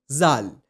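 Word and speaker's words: ذال: To pronounce it correctly, just touch the tip of your tongue underneath the front two teeth of your upper jaw and say zal.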